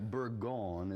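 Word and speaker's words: Bourgogne: Burgon is how they would pronounce it, but we say Burgundy.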